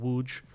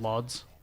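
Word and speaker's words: Łódź: center of Poland called wooj if you look at the spelling you would and you see how it's spelled you'd think it's called lods but it's actually pronounced wooj and we had a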